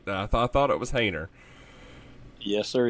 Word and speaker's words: Hoehner: It's Hainer. Hainer. Okay. I Yes, thought sir. it was Hainer. And I hear people say Hoehner all the time, and I'm like, I don't think that's right.